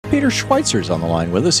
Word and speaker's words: Schweizer: His website, Peter Schweitzer, without a T, Peter, SCHWEIZER, although you pronounce it as if there was a T, .com.